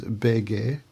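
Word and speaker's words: БГ: So in Russian he gets known as Bege, which is how you say BG in Russian.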